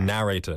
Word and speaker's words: narrator: here is uh and in canada or the us we say narrator narrator narrator narrator okay there's a little emphasis on the second a right exactly so in